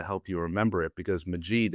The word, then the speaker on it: Majeed: I give a little bit of a dramatic pause, and I'll often start with, "Ladies and gentlemen, my name is Majeed like magic."